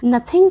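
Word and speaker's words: nothing: नथिंग का मतलब होता है कुछ भी नहीं। इस वर्ड को हम बोलते हैं नथिंग।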